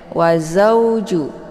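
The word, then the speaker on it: وزوج: Cara bacanya cukup dilembutkan saja atau dilunakkan saja bacaannya. Tidak boleh dibaca panjang ya. Wa zauju ya.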